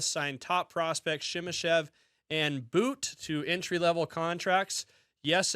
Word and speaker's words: But: It's pronounced boot and uh no no ifands or boots about it.